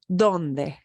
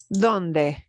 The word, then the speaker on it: donde: the word for where donde even with the letter D it will be softer than what it is in English donde okay and here's a